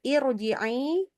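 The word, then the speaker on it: ارْجِعِي: oke nah itu depannya ini bacanya adalah irjii dan ini adalah Hamzah wasal Oke Hamzah was irjii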